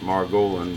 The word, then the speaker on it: Margolin: money muddy career and my name is pronounced Margolin but we're doing fine